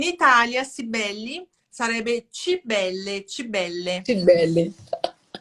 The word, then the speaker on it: Cibele: Cibele.